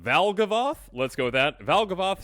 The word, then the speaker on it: Valgavoth: Valgavoth sounds like a moth.